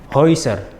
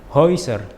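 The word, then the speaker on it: Häuser: dalam kata bocoveriferin verkoiferin Hoiser. Hoiser hoit hoit oiro oiro noin. Noin. Jadi untuk gabungan huruf a um laut dengan U ataupun E dengan U, cara pelafalannya adalah oi.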